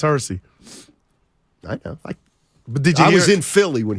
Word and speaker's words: Hersey: that's kind of said Hershey Hawkins or earlier and you didn't get me I got mad it's Hersey he was in Philly